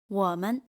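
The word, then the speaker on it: 我们: wǒmen We. Us. The second word loses its original tone, men, and becomes neutral tone.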